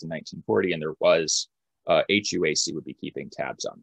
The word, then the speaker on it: HUAC: After these initial rounds of investigations, the House Un-American Activities Committee, or HUAC, sometimes just spelled or mentioned phonetically as HUAC, the HUAC began conducting